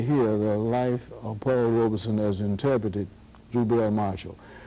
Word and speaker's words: Robeson: here to correct me the pronunciation of Paul's last name is Robeson our OBE s o N and there's a